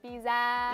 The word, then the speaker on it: pizza: Yeah, it is a z, but we don't drag it out too much. It's nearly like a broken z.